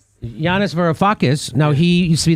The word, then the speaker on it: Yanis Varoufakis: Yanis Varoufakis.